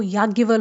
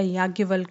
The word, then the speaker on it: याज्ञवल्क: देखो क्या होता है, जो याज्ञवल होते हैं, हाँ इनका याज्ञवल्क नाम है पूरा, यहाँ पे थोड़ा सा प्रोनाउंसिएशन गलत हो गया था मेरा।